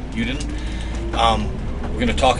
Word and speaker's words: Yudin: Uden. Uden.